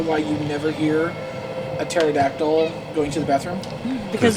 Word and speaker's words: pterodactyl: Velociraptor, she gave me, she goes, do you know why you never hear a pterodactyl going to the bathroom? Because the Because P he is is silent.